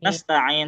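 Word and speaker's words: نستعين: jangan cepet-cepet, jangan Nasta'in. nasta'in, tapi nas, dia sama nih, ya dan sin ini sama-sama mengalir sempurna. Jadi kalau ngomong durasi dia harusnya lebih panjang.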